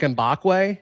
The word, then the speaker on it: Mbakwe: Is like Mbakwe? Yes, you just nailed it. Mbakwe.